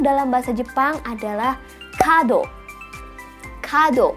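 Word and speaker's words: 門: Kado pendek ya, kado.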